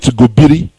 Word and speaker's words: Gobir: Gobir. Some call it Gobiri, but that is the pronunciation.